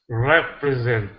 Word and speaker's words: represent: Okay, watch out for that breath sound. So you're you're you want to say okay so don't say okay it's okay without okay so you need to remove that h sound okay so it's represent